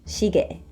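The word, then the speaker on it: 시계: clock and even though it's spelled like the pronunciation is just shige next we've got changun window Tang Moon door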